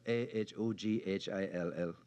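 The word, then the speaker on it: Ahoghill: Uh, the world is divided into those who can pronounce a hawk on site and those who cannot. It It is spelled A H O G H I L L.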